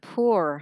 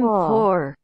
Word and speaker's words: poor: po I'm po I'm po đúng không đọc vậy người ta cũng hiểu đấy Tại nó có hai cách đọc nhưng mà phổ biến hơn á vẫn là o nha po Dạ po Ok po